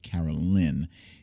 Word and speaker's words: Carolyn: by officer carolyn edwards i'm not sure if it's caroline or caroline it's spelled caroline but i think it's pronounced carol lynn and i see you